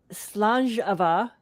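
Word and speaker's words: Slàinte mhath: But I'm renaming it Slanjava, which is how you say it in Scottish. It's that word that looks like Slainte Mahath.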